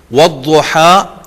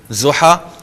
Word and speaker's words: ضحیٰ: والضحیٰ واللیل اذا سجا۔ ضاد کو انڈرلائن کریں گے آپ، کیونکہ ہم ضحیٰ کہہ دیتے ہیں، ضحیٰ غلط تلفظ ہے، اور اسی طرح اذا ہم پہلے بھی پڑھ آئے ہیں، ہم اذا کہتے ہیں، یہ بھی تلفظ غلط ہے۔ والضحیٰ واللیل اذا سجا، والضحى واللیل اذا سجا.